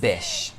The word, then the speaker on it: bitch: gleam that changes constantly then she says bish this is an alternative way to say and this kind of pronunciation makes the word less aggressive narcissist what does